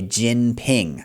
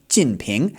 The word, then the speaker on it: Jinping: Jinping. Now, if we add the tones, it's going to be fourth tone then second tone, Jinping.